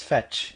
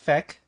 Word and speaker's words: Fech: pronounce the main character the way we are saying it right now patch yes fetch it is fetch and not fake but we do have